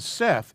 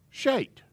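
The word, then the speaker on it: שֵׁת: first word is shaped seth is the guy's name seth well it really isn't seth it's shaped in the scriptures and i explain why the the shin gets turned into an s sometimes that was translation and transliteration i don't want to say error but it was close to it okay so that's where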